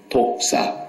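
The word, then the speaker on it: δόξα: 독사, 헬라말로 독사. 뱀 말하는 게 아니에요. 헬라말의 언어는 발음이 독사로 나오는데 그게 영광.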